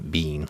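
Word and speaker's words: Biehn: and where I heard his pronunciation of his name Bean like Mr Bean a British comedy yeah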